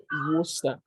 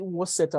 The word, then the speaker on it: Worcester: My city is pronounced as Worcester, but he called, I don't know, because of the way it's spelled, he called it, was it Worcester or something?